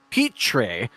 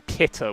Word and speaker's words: Petree: It's looking good right now for Petree. Is that correct? I want to make sure I pronounce it right. That's what I was told last time. I for some reason I just missed the R and called him Pitter, which was crazy work.